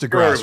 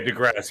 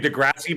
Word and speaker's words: deGrasse: It's pronounced deGrasse, right? Yeah, deGrasse. Yeah, I keep thinking Degrassi, but then I start thinking about the show.